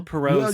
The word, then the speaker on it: Poirot: Hercule Poirot's Christmas.